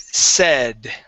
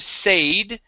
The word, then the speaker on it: said: the word said okay instead of sayed using a long a sound here when when the verb to say is in past tense it switches to a short e sound the word is said good nice job all